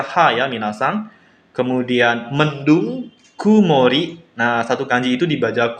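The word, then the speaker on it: 曇り: Kemudian cuaca masih ya minasang, yaitu langitnya cerah, dibacanya hare. Satu kanji itu cuma dibaca ha ya minasang. Kemudian mendung, kumori.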